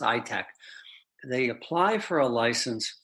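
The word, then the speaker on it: ITAAC: the country they have something called an ITA a C's short pronounced i-tech they apply for a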